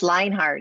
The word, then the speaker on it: Lienhard: Is it Lionheart or Lienhard? It is Lionheart. It is not pronounced the way it's spelled.